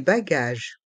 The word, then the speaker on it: bagages: charot le ch les bagages les bagages dans le mot bagage le s est mué les bagages les bagages